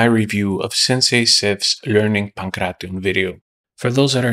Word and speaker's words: pankration: Pankration. Pankration, or Pankration, or even Pankration. Four syllables, never three.